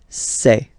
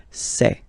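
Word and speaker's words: ces: And for the plural, c'est. Really open this c'est, okay?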